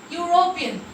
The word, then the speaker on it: European: Consonant Y sound is coming here. European.